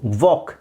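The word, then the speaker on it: walk: ಈಟ್ ತಿನ್ನು ರನ್ ಓಡು ವಾಕ್ L silent ಆಗಿರುತ್ತೆ ವಾಕ್ ನಡೆ ಟಾಕ್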